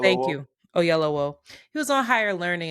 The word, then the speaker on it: Oyelowo: How do you pronounce the brother's last name? David help me. Oyelowo. Thank you. Oyelowo.